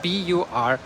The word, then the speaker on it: Burgos: Burgos is spelled B-U-R-G-O-S, Burgos.